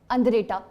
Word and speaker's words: Andretta: द अंद्रेटा art gallery, अंद्रेटा ANDRETTA, and the Andretta Art Gallery has the paintings of किसकी?